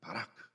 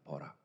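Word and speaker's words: בָּרַךְ: 여기서 복을 주셨다라는 것이 원어로는 바라크입니다. 바라크. 여러분, 그 바라크가 이 아랍어 발음이 히브리어 발음이지만은, 여러분 이게 영어식 발음이면은 버락입니다. 버락.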